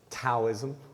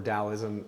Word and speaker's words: Taoism: Well, you've seen it as Taoism a lot, which is supposed to be pronounced Taoism.